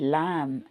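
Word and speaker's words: lamb: செம்மரியாடு அதோட குட்டி பேரு லாம் சோ இங்க பாருங்க நான் லாம் சொல்லும்போது பிய வந்து ப்ரோனௌன்ஸ் பண்ண மாட்டடிங்கறேன் பி வந்து உச்சரிப்பு கிடையாது லேம் லேம் எல்ஏ எம் அப்படிதான் சொல்லுவோம் லேம் ஓகே தமிழ்ல நான் எழுதிருக்கேன்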